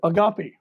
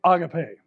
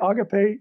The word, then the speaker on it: agape: actually supposed to be pronounced and you can pronounce it the way we've all heard it for years and that's the word agape the word is actually agape so when i say agape you say agape and let's all just get